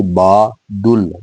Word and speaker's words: بادل: با دل، با دل۔ تو جو صحیح تلفظ ہے، جو صحیح آواز ہے بادل میں دال کی، تو وہ زبر ہے، با، بے الف با، دال زبر لام دل، با دل، با دل، خدا، آڑو، بادل۔